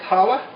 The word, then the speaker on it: challah: okay spelled with the c-h-c-h-a-l-l-a okay but it's pronounced challah challah so you don't want to go too